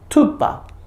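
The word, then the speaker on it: thūpa: 그다음에 요거는 투파. 뚜가 아닙니다. 이거는. 여기 이제 산스크리트 팔리어로 이야기하면 TH는 투고요. T는 뚜고요. 투바입니다. 뚜바가 아니 틀렸습니다.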